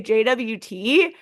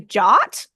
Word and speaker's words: JWT: we were saying yesterday apparently you could say JWT or you can say jot and so apparently they